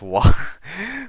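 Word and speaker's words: は: Get them right as wa. Okay. But it's the pronunciation is wa in this case.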